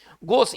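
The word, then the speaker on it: gauche: देखिए गोश, इसको है ना, इसका उच्चारण करेंगे गोश, और इसका हिंदी क्या होता है, भद्दा, ठीक है ना, फूहड़, भद्दा या फूहड़।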